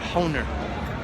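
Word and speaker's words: Hohner: can you pronounce that everyone I know is always said honer honer honer that rhymes with rhymes with loner over here is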